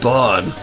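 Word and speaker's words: bairn: Bane. A young child, often a baby. Terry's got a bane. Sometimes pronounced burn.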